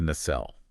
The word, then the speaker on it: nacelle: Yeah, and engineers call that housing the nacelle.